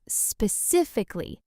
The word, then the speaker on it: specifically: The correct pronunciation is specifically. The stress is on the second syllable, sif, and the full word has five syllables, specifically.